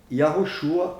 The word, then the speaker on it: Yahushua: foram traduzidos foram mudados foram modificados portanto a pronúncia correta do nome do eterno é legal e yarruchua é o nome do filho do eterno e